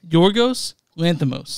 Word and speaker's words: Yorgos Lanthimos: it correctly Yos how do you say it yorgos Lanos yorgos loros Lanos lamos good job that's director